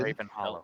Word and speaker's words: Graven Hollow: Hollow, is that how it's pronounced? Correct, Raven? Graven Hollow. Like pretty much exactly like it sounds.